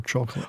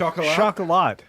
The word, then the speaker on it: Chocolat: How do you pronounce the name of the Johnny Depp movie with uh about uh the the sh begins with the ch chatau? Is it chocola or chocolate? Oh, shakalot.